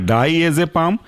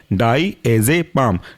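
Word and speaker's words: diazepam: अंदर कौन-कौन से एग्जांपल हैं ये है आपका डाई एज ए पाम spelling है डाई एज ए पाम डी आई ए जेड ई पी ए एम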